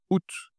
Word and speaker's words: août: Le 8e mois, c'est août. C'est le mois le plus facile à prononcer de l'année. Oû ce n'est pas à août. Non, c'est juste la leçon où hein. Ooût août.